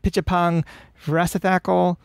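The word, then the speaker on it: Apichatpong Weerasethakul: It's Pichapong Vrasathakal, Olivier Assayas, the Dardens, Pedro Costa, and Tsai Ming-Liang was part of that.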